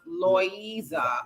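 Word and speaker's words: Loíza: part of puerto rico pronounced loisa okay louise i got it um yeah definitely if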